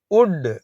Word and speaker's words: would: டள் o எல்டி வுட் என்ற வார்த்தையில் உள்ள எல் என்ற எழுத்தை நாம் உச்சரிக்க கூடாது. வுட் வுட் என்ற வார்த்தையானது ஆங்கில இலக்கணத்தில் வரக்கூடிய மோடல் ஆக்ஸலரி வெர்ப் ஆகும்.